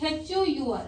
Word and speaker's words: hour: Suppose hour. Spelling is H-O-U-R, but you read it hour. H is silent here.